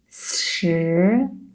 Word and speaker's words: 十: Now let's read it as a second tone, 四, and then based on the pronunciation of 四, you just roll up your tongue. 十 That will be the pronunciation of number 10 in Chinese.